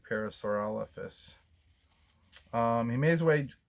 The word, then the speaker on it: parasaurolophus: a big word i'm gonna look there's a pronunciation key on this chart here and that word is parasaurolophus parasaurolophus parasaurolophus that's a mouthful so there is